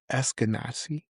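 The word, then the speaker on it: Ashkenazi: It seems that you are an how do you pronounce it? Essenazi.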